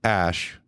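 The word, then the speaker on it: Æ: And he said, Musk told Joe Rogan that it's X, as in the letter X, and then the AE is pronounced Ash, and then the A-12 is my contribution.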